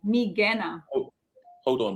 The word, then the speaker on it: Migena: Migena. Everything is a hard G. Migena. Oh, hold on, McKenna.